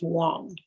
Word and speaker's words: Wang: he gave me w-a-n-g he was very specific saying it's pronounced wong so i did a